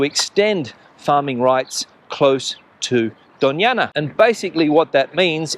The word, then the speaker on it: Doñana: Now, if you're not familiar with Doñana, and Doñana is spelled D-O-N-A-A-N-A, it has that Spanish ñ sound, which is unique to the Spanish language, of course.